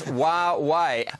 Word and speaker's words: Huawei: Most Australians don't even know how to pronounce it. Yeah, you got it right. Huawei or whatever, but it's Huawei.